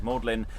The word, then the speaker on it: Magdalene: reading uh pharisees uh magdalene but we'll probably be pronouncing it as maudlin and all the disciples